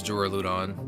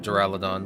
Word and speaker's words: Duraludon: I don't want to use Duraludon, or Duraludon, whichever you want to pronounce it.